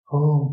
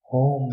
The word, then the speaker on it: ओम: ओम शब्द बना है अ, उ और म से। अ शुरुआत है, उ कंटिन्यूएशन है और म अंत है।